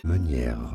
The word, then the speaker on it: Meunier: Meunier. For now, I guess we're just gonna call it manure.